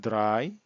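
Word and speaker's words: drei: হবে সোয়াই, 3 হবে অর্থাৎ ইংলিশ 3 হবে দ্রাই, জার্মান উচ্চারণ হবে দ্রাই।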